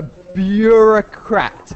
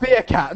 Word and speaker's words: bureaucrat: A bureaucrat, yeah? A bureaucrat. Bureaucrat. Bureaucrat. Bureaucrat. Not beer, Okay. not beer cat, not a beer cat.